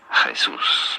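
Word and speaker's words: Jesús: you pronounce pronounce this you do want to stress on the second syllable that's what the accent on the means here Jesus pretty straightforward once you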